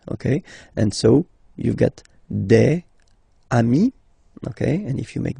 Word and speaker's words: amis: Even if you get to write the S, then you don't pronounce it.